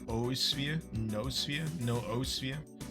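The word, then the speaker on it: noosphere: another origin of the it's not new spheres I always pronounce it new sphere it's no sphere apparently I don't know I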